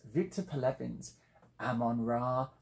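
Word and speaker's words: Omon Ra: by the cover art it's Victor pal Evans Ammon ra not Oman ra as it looks to be I'm assured that is the correct pronunciation it's a postmodern fiction and what it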